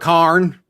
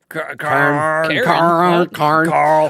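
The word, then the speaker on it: Cairn: They talk about Karn. That's how you say it. Karn.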